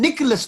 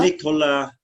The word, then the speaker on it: Nikola: Nicholas Tesla. Nikola Tesla, Hmm? he was originally ostensibly from Serbia, or on Okay. that sort of border from the ex-Yugoslavia. Yeah. And so it's spelled Nikola, and then Yeah.